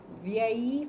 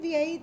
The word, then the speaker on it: vieille: But for objects, let's let's use ve uh for masculine, vieille for feminine, ve uh for masculine plural, vieilles for feminine plural, and before the vowel, vieille.